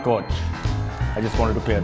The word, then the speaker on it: Koch: It's pronounced Koch.